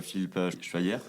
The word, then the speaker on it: Philippe Schweyer: Alors, pour commencer, Philippe Schweyer, ça, je prononce bien. Très bien, bravo. Pouvez-vous vous présenter et qui êtes-vous ? Alors, effectivement, je m'appelle Philippe Schweyer, je suis mulhousien comme vous, a priori.